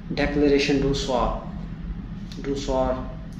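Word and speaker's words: Déclaration d'un Soir: हमने बात करनी है इसका नाम है कार्टियर डेक्लेरेशन डू सॉर इस तरह करके इसकी वो प्रोनाउंसिएशन है French pronunciation obviously being a native Asian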